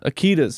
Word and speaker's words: Akita: Akitas, yes, Akita. That makes more sense. Like the power tool.